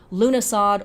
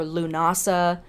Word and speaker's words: Lughnasadh: Some years and some of the time I will call it Lughnasadh or Lughnasadh. It's pronounced both ways.